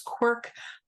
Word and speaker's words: CWRC: Canadian writing research collaboratory or cwrc which we pronounce quirk uh the other is